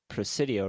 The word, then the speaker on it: Presidio: of when we were out there in the Presidio, right? That's how you Yeah.